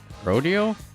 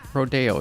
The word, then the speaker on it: Rodeo: cowboy sport and then i kind of thought rodeo and then also siri when i was looking